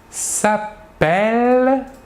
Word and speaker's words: s'appelle: En effet, le E suivi de double L se prononce est, alors que le E suivi d'un seul L se prononce E.